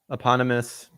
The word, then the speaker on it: eponymous: Eponymous lead of Mob Psycho 100.